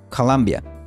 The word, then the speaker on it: Columbia: El nombre original en inglés se pronuncia Colombia.